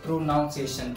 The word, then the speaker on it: pronunciation: Coffee students इसको pronunciation कहते हैं But this is pronunciation.